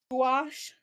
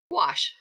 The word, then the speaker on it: gouache: yeah when I see that how do you pronounce it gouache gouache I think of ganach well of course you